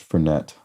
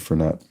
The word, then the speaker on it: Fernet: would be uh fernet fernet branco um or is it fern I've always heard it pronounced fernette even though I think it's fernet I think it's fernet